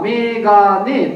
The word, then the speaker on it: mgn: APC と書いて RPSA、その読み方で読むと MGN はメガネということになります。